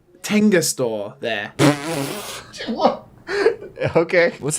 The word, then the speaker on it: Tenga: It's probably not my place to talk about Tengas too in depth.